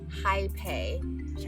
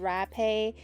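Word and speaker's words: Hapé: The original word is pronounced Jaipei, although you might see many different versions of the spelling on Western medias. You will also hear people call it Rapé, and there are many other variations.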